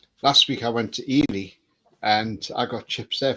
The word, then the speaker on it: Ely: But last week I went to Ely and I got chips there for £2.50.